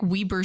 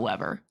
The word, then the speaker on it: Weber: I'm going to pick Weber State. No reason. All I know is it's just pronounced Weber, not Weber.